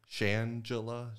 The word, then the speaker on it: Shangela: How do you say that name again? Shangela. Like Angela. I have garbage of names.